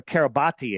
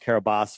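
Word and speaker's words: Kiribati: But if we look where Kab where Carabati is, I know it's pronounced Carabas for those people that are freaking out right now.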